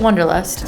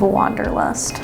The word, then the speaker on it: Wonderlust: hello The Witch of wonderlust I always say your name wrong I go to the witch of Wanderlust oh yeah because it's